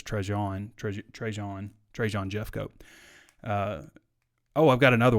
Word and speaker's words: Trajan: Actually, the pronunciation is Trajan.